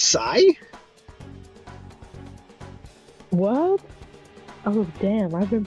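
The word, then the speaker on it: Sae: It's pronounced Sai?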